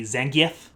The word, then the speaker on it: Zangief: people corrected me already the correct way to pronounce his name would be Zhang Jia but come on it's Keith it's always been Keith welcome to character study